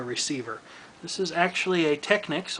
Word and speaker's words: Technics: This is actually a Technics, or Techniques if you simply must pronounce it that way, by Panasonic FM/AM stereo receiver SA-5170.